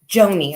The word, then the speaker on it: Joanie: okay because it says Joanne how do you pronounce her name Joni okay was last seen in the vicinity north